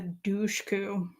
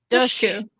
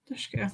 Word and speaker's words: Dushku: Don't say that. It's dush like push. Do you know, I've heard the two of you talk about it so much. It's like I will not pronounce her last name. No. It's dush. Dushku. Dushku. It's like push. Dush, push. Dushku.